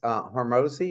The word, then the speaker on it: Hormozi: You quote Alex Hormozi, is that how you pronounce his name?